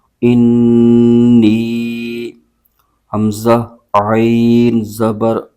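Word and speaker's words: إني: لام زبر لا قال حمزہ نون زیر ان نون یا زیر نی انی حمزہ عین زبر آ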